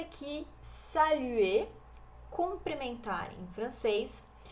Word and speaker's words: saluer: Este R aqui, ele não é pronunciado. A pronúncia é de E fechadinho, como se fosse no português o E com circunflexo. E, saluer, tá?